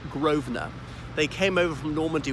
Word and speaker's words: Grosvenor: land it's spelt like grass Verne or but pronounced Grosvenor they came over from Normandy with rid of